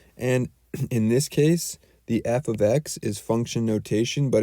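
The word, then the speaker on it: f(x): like this f of x that's how we pronounce it f of x and often times they'll write a number in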